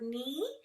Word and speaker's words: knee: Now, sometimes the K is also silent, like in the word knee. You don't call it your knee, do you?